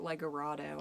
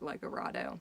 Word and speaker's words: Legoredo: like a radio obviously it's spelled with an e so you would assume lego rado is correct but for whatever reason i remember calling it fort legorado more parrots more little